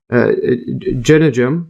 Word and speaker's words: jejunum: Then you have the jejunum, or let's see that again, pronunciation here.